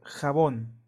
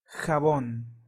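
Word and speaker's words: jabón: word Bach right so an example in Spanish would be the word khabon khabon carbon mean soap all right so remember the sound which is hota hota and example will be the word havon habon next is Hurricane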